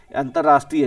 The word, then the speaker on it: अंतरराष्ट्रीय: अगले अक्षर पे चढ़ेगा जैसे अंतरराष्ट्रीय है प्रोनाउंसिएशन होता है अंतर राष्ट्रीय राइट तो अब